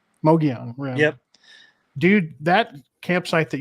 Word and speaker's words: Mogollon Rim: You did a video where you were camping on, I want to see if I pronounce this right, Mongolian Rim? Mogollon Rim.